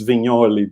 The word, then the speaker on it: Vignoli: That's why it's Vignoli, because it's like Mike Mignola, no? Like that's how you pronounce it.